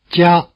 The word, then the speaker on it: 加: The E sound gets weakened at normal speed, but it's still there. Repeat 加, at normal speed now.